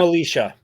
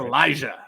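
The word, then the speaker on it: Elisha: And then, don't call him Alicia. Don't call him Alicia. It's Elijah. Uh, even though it's spelled kind of funky.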